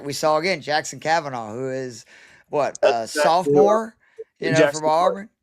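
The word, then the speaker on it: Koivun: Because like we saw again, Jackson Kavanaugh, who is sophomore, from Auburn. Yeah, I think you pronounce it Coiven, but yeah, Jackson Coiven.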